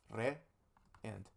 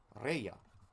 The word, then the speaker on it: reya: This does not make rea. No, no, no, no. That would be very difficult to pronounce for some people who want to speak this language. Instead, we insert a y here. So then it becomes reya.